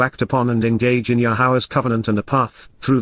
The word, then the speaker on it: Yahowah: according to, and for Yahawah, Yahawah, the proper pronunciation of Yahowah, our Eloah, God has directed in his Torah regarding his existence and our shalom, restoration.